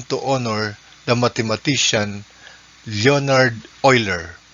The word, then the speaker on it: Euler: e was chosen to honor the mathematician leonard euler pronounced as euler tagalog logarithms natural logarithms natural logarithms